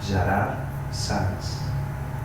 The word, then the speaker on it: Gerard Sans: And my name is pronounced Gerard Sans. This is in Catalan. In Spanish is Gerardo Sans, which is completely different. In English is Gerard Sans, more or less. In French, Gerard Sans. So in any language you will never find me, unless you pronounce it like my family, okay?